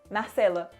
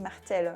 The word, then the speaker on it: Marcela: Marcela. Marcella. Pas mal. Je me suis auto-congratulé. C'est italien, Marcela, à la base. Et les gens disent Marcello. Et j'aime pas trop.